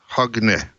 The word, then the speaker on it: Hogne: Actually, Dan Wood did a great job pronouncing my name. It's Hogne in Norwegian, and he should perhaps give his take afterwards. I'm in from Norway. Hogne. Closer? Hogne.